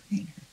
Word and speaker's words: Kreiner: And on the French side, that name is pronounced Kreiner. Kreiner.